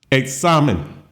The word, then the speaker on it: examen: Third word, examen. Examen. well, it ends in an N. Stress falls on the second and to the last syllable. So it follows our pattern.